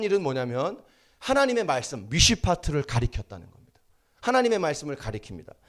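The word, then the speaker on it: מִשְׁפָּט: 미쉬파트. 발음이 어렵죠? 미쉬파트.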